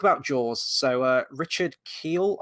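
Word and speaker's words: Kiel: jaws so uh richard keel i hope i'm pronouncing that right i'm going with the germanic pronunciation of the surname with that one um i mean he's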